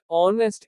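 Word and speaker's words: honest: कुछ विशेष अक्षरों C, W के बाद H का उच्चारण नहीं होता। ऑनेस्ट ईमानदार।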